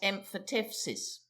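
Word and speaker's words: emphyteusis: a colloquial abbreviation of emphatusis usually pronounced emphatsis.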